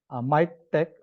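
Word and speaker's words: MiKTeX: MyTech add-in for R. Tapos sa Mac naman, MacTech. I don't know why they pronounce it as tech, although it's letter X.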